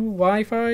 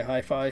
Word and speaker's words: Hi-Fi: jb halfway yeah high fire how are you pronounces it with a w wi-fi or jb and then so it's got the dashes between them jb hi-fi okay hi-fi so like uh j so jb and then